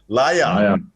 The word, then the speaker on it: Laja: Laja.